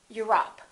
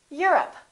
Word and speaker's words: Europe: Europe or Europe? I'm from Europe. Don't say I'm from Europe. This is stressed. The O, once again, is reduced. Repeat. Europe.